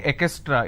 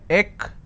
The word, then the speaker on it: extra: If I have to break it for your quick understanding, it's extra. It's extra. Now what mistake people do is they pronounce this as ekestra. So this is wrong. It's not ekestra, it's extra.